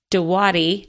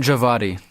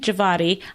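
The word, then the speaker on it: Djawadi: nomination for composer raymond de Watty did I say that right I mean javadi thank you Ramin javadi I don't I I'm terrible at pronouncing well you'd never guess based on the spelling but I know cuz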